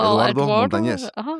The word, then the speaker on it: Eduardo Montañez: Eduardo Montañez.